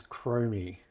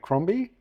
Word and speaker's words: Cromie: Usually people put a B in there and make it Cromby.